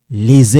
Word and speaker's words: les: Here, this one, you don't pronounce it, but we link here, it's the sound, les écoles. Now, this sound, it sounds like this. Les écoles. Okay, this S silent.